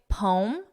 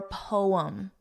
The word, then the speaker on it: poem: You can say poem, 1 syllable, or poem, 2 syllables.